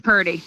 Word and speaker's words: Purdy: Um, your last name is Pertie, right? Correct. Okay. See, every time I don't ask, I end up pronouncing it wrong. So that's like a thing. It's partyy. Perty.